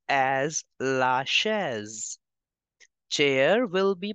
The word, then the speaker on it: chaise: S is between two vowels, so we have to change the sound of S to Z. It is starting with CH, so sh sound will come. Chair will be pronounced as la chaise.